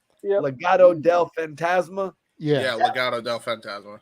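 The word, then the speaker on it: Legado del Fantasma: group uh how do you say their name Legato Fantasia Legato Del fantasma yeah yeah Legato Del phantasma yeah so if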